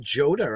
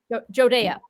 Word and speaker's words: Jodea: I mean, last time we talked to you, it was introducing Joda, I believe, right? Jodea. Yep. Jodea. See, I butchered the name.